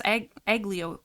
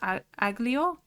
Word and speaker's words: aglio: I'm like, it's not pronounced aglio? But I'm pretty sure the G in Italian is silent.